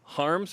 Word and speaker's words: Haarms: Netherlands right what and it's pronounced harms are we saying you correctly what's the native pronunciation different language English that then my dad would say ha ha ha times okay we could try